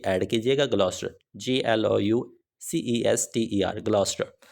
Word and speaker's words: Gloucester: यहाँ पे नाम नहीं लिखा हुआ, लेकिन वो लाजमी तौर पे ऐड कीजिएगा, ग्लॉस्टर, GLOUCESTER, ग्लॉस्टर।